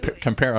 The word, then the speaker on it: Pollo Campero: And when I walk into Campero, Is it Campero? I think we said it wrong. It's perfect. Yeah, it's you know what? Pollo Campero.